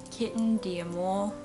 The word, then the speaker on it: Kitten D'amour: today we are doing a kitten de more that's how you pronounce it I will be